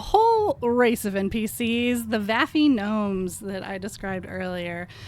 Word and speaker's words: vafi: Next are a whole race of NPCs, the vafi gnomes that I described earlier. I spell it V-A-F-I, and the vafi gnomes are a